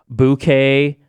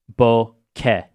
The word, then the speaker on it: bokeh: There's plenty of mispronunciations like bouquet, bokeh. It's supposed to be, from what I gather, bokeh. Bokeh. You guys can correct me on that, but because everyone knows like the whole GIF.